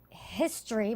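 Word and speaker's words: HSTRY: piece high-end menswear collection called history but it's spelled h-s-t-r-y and the flying features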